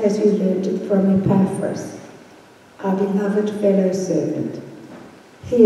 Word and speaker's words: Epaphras: it being the gospel, from Epaphras, that's a better pronunciation that Carel gave us, our beloved fellow servant,